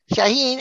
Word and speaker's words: Shaahin: start this off then because i'm going to mispronounce his first name it's shaheen right yeah shaheen and the last it looks like cheyenne is